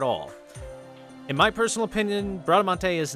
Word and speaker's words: Bradamante: Technically pronounced Bradamante, but We will be covering the points we see on screen here.